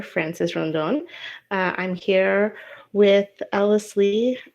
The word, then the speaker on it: Ellis Leigh: Is it Ellis Leigh? Yep.